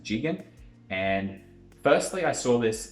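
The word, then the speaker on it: ZIGExN: to very soon is is called jigen i know it says z-i-g-e-x-n but it's pronounced jigen and firstly i saw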